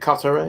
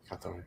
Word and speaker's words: Carteret: Oh, they don't pronounce E-T. I know that's silent in French. Carteret. Carteret.